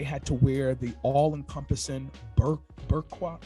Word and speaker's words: burqa: Women were barred from going to school, working outside the home, and they had to wear the all-encompassing burqa. How do you say that? Burqa, B-U-R-Q-A, and be accompanied by a male relative whenever they went outside.